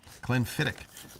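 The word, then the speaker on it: Glenfiddich: I think at least a Glenfidic. Is that how you say it, Donnell? Clen Fidic. It's almost like William Emmerick with a hard ch.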